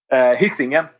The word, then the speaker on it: Hisingen: How do you pronounce the name of the album? Hisingen. See, I wouldn't have got that in a million years.